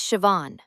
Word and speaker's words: Siobhan: Hi, my name is Siobhan. I'm sorry. Can you spell that?